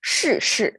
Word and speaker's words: 是: Okay, you see the two are curling tongue pronunciation, kind of when you have to curl your tongue, and they are both falling tone, so it is difficult. 是, okay, even if it